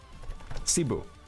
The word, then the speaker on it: Cebu: Is Is it Sabu? I've never heard of that. Is it seu or am I pronouncing that like in a American? Is that is that real? Hold on. Cebu.